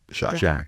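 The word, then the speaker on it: Jacques: Jacqu Jacqu Jack like Jacqu CQ U SQ but it's pronounced just like Jack.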